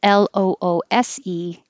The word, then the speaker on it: loose: If it's the adjective, it's spelled Loose, and it sounds like an S at the end, loose, meaning not tight or not contained.